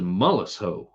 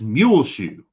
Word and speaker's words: Muleshoe: What the hell is Mullishoe? God, Mullishoe. What is Mullishoe? I'm like, I take the paper. Pat, that's Muleshoe. Well, it's spelled Mullishoe.